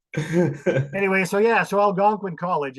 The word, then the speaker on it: Algonquin: Algonquin. Algonquin.